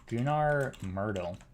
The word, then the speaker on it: Gunnar Myrdal: day as this other guy, whose name was Gunnar Myrdal. I'm pretty sure that's how you pronounce his name, and we can look at him on Wikipedia as well.